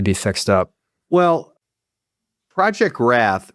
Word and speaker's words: RATH: Well, Project Wrath, Wrath is spelled R A T H, not W R A T.